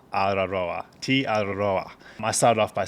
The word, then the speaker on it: Araroa: So the way to say tee-are-a-rho-a is T, and you got to roll your R's. Araroa, Araroa, tee-are-a-rho-a.